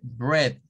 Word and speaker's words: bread: igual aquí no aparece Miren la palabra no tiene la e sino que tiene la combinación de una e con una a eso no va a sonar nunca Never forever in this light or going to say like No no es ella para referirse al pan se dice Bread Red Red como que fuera una e vea Este es un